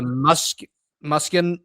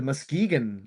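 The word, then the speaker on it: Muskegon: Bruce Collins, a center for the Musk Muskin Lumberjacks. The Muskegan Lumberjacks. That's right. I was like, I I didn't pronounce that correctly.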